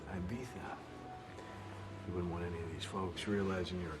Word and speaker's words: Ibiza: mmm all right they might get stolen it's pronounced Ibiza these folks realizing you're a crook not a